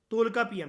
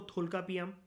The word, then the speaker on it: तोलकापियम: कई जगह पर लिखा रहता है इसको थोलकापियम, कहीं तोलकापियम।